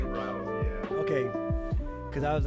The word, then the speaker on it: Rao: I say RAO, yeah.